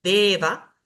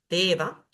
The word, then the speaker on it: deva: La E, que siempre es un sonido largo, Deva, Deva.